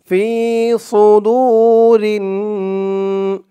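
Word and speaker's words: صدور: ফি সুদুরিন, ফি সুদু, সু এই সদের উচ্চারণটা খেয়াল করবেন। বলতে হবে ফি সু, মুখটা একটু ভরপুর হয়ে যাবে, এরকম মনে হবে সদের উচ্চারণটা করার সময়। ফি সু, একেবারে সু বলা যাবে না, সু বললে কিন্তু সিনের উচ্চারণ চলে আসবে।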